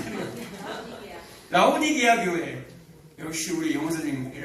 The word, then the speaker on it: 라오디게아: 꼭 라오디아 이 발음이 오늘 영 안 되네요. 라오디게아 교회.